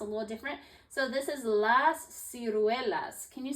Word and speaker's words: las ciruelas: So this is las ciruelas. Can you say las ciruelas? Las ciruelas. Good job. That's a little harder to pronounce.